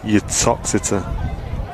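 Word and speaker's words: Uttoxeter: terry edwards says uh your toxita is how you say it there you go you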